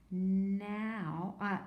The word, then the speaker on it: know: is a tricky one because the K is silent doesn't make any sound it just the end just makes its sound so this is actually now this is actually no